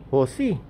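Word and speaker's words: jusi: Metallic husi. Apo. Okay. Ano spelling ng husi? Z-U-S-I. Ah, Z. Jay po. Ah, Jay? J-U-S-I. O, parang sa Lin H ang pagkabasa. Yes po. Okay. Pronounce po siya as H.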